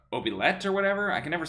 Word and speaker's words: oubliette: Oubliette.